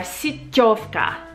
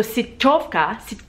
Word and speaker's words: siťovka: Now the Czech word for these net bags are siťovka. Siť is network, like basically a network. So siťovka, but there's a soft T.